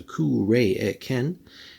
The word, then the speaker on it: Cuiraécen: cross sword so again a little bit of pronunciation there there's a k re Ken so the god of Storms and conflict but